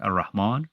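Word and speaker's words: الرحمن: with a shadda, and you don't pronounce the L. So when you say like Ar-Rahman, right?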